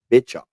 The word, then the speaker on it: Bischoff: I think you pronounced his name incorrectly. His name is Eric Bischoff. Eric Bischoff.